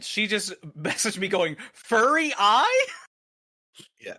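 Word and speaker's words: Furiae: just messaged me going furry eye. Yes. I'm like furry eye. That that that's how it is pronounced.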